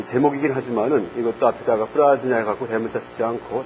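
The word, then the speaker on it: प्रज्ञा: 이제 거기 써 있듯이 프라즈냐 파라미타 흐리다야 수트람입니다. 프라즈냐 파라미타 흐리다야 수트람. 여기에서 이제 진야가 읽을 때 진야를 갖다가 기야 혹은 냐라고 읽는다는 얘기를 했었죠. 그래서 프라기야 파라미타 흐리다야 수트람이라고 읽어도 돼요.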